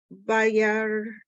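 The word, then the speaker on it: וירא: hashofar ve'et hahar ashen bayar the aleph is silent.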